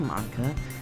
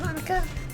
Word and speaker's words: Monika: piano that's where you play music as well monica uh i don't really i just started recently i always wanted to learn piano that's so cute you should play something pronounced monika that's marco looks at me maybe once i